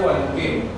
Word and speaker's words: balompié: Formamos el compuesto balompié. Balompié es una palabra constituida por 3 sílabas. ¿Cuál es la tónica? ¿La tónica cuál es? La última.